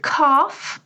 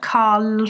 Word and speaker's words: calf: in the last two calf has a silent L it's not Carl f is the back